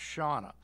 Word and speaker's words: Shanna: Shanna. Shauna. Correct. It's spelled Shanna, but it's pronounced Shauna, just so everybody knows.